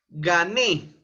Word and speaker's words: gané: n y s ejemplo gané ga Ne la sílaba tónica está en Ne es una palabra aguda